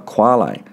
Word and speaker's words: quale: A typical such puzzle is that of qualia, singular quale, which rhymes with barley, meaning the subjective aspect of sensations.